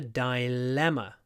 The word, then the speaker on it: dilemma: a dilemma dilemma dilemma it's the same but remember it's D at the beginning dilemma but the stress is still on the second syllable dilemma long L dilemma dilemma strange isn't it we have one L and it's long and we have two M sounds but they're short dilemma dilemma the next